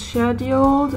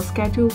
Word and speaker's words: scheduled: Oh, 18 is up, 19 is scheduled or scheduled like the Americans say.